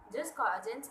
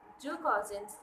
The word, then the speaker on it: jus cogens: The term jus cogens is either pronounced as jus cogens or ju cogens or us cogens.